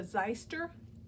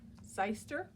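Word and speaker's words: xyster: it it was a zeister x y s t e r zeister I guess it's the proper pronunciation and I'm not fibbing to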